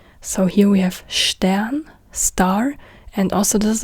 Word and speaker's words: Stern: Then we have ST. ST is st. It's not st. So here we have Stern, star.